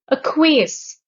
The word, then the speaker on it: acquiesce: Acquiesce. The stress is on the third syllable, the last syllable, and acquiesce means to agree without protesting.